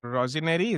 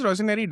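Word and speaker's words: Rosenior: I feel Rosinary, is that how you say his name? Rosinary.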